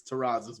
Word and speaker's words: Terrazas: Christian, if you're listening, I highly doubt you are, but man, it's Terrazas, man.